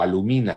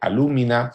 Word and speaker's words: alúmina: Modificaciones acentuales, muchas veces palabras cultas, esdrújulas, que se pronuncian como palabras graves, como palabras paroxítonas, alcibiades en vez de alcibíades, antíoco en vez de antíoco, alumina en vez de alúmina.